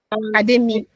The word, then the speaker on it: Ademi: Ademi Adeyefa, right? Is that the pronunciation? Is that right? Ademi. That's the pronunciation.